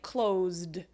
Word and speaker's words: closed: about like clothes right closed it's actually the dust sound because clothes is closed even though it's spelled CL 0 SE the sound is a Z so you have